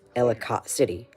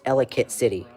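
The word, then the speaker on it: Ellicott City: Again, Paul Paul says Elott City. It's Elicate City.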